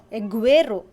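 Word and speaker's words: agüero: after the word derecis when the letter g is followed by the dares is e or deres's eye you will pronounce a strong g and the two following vowels for example g there is e as in aguero aguero g there is his eye as in pingueno pinguino so that's all for today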